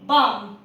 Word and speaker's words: balm: BALM बाल्म नहीं बाम, PALM पाम।